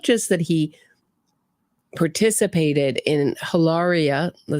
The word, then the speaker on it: Hilaria: that he participated in Hilaria not Hillary Baldwin Hilaria Baldwin she even changed the spelling